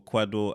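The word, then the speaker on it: Kwadwo: Michael Essien, or Kwado Asamoah? That's a quadro. It's Quadro. The way they did it on the net.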